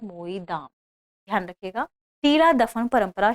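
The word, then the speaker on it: Moidam: मोईदाम हमने देखा मैदाम, इसका असमिया भाषा में इसका जो रियल प्रोनाउंसिएशन है वही है मोईदाम।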